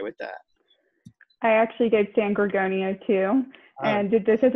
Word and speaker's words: San Gorgonio: San Gorgonio is how Gorgonia. I pronounce it. Wow, I was not even close. San Gorgonio.